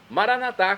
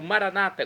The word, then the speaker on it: Maranatá: E agora eu clamo, então, Maranatá, como dizemos nós católicos, ou Maranata, como dizem nossos irmãos separados, os evangélicos ou protestantes. Não importa a pronúncia, o significado é o mesmo.